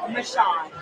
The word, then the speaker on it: Mashawn: Mashawn. Mashawn. Okay. Yes, sir. It sounds easier than what it's spelled.